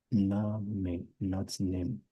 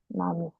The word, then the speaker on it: Name: Nami. Say again. I said maybe E is pronounced as I, like Nami. Actually, as A, as English A, more or less like English A, Name.